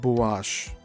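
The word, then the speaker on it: Buache: existence of maps such as the Pirase and Bash and that's spelled B U A C H E and parenthesis.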